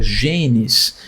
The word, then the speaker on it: genes: de pronúncia, né, que jeans também é a pronúncia pra palavra genes.